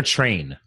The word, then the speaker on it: Trean: So, is it Trean or Train? Trean. It is Trean.